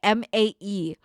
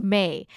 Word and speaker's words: Mae: So my last name is Mae, Mae. But like if you say it in English or like with an English pronunciation, it's May.